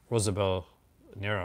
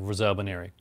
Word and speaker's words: Rosalba Neri: Pronounce her name because I'll get it wrong. Rosalba Nero. Rosalba Neri. So my dad is a huge fan of Rosalba Neri.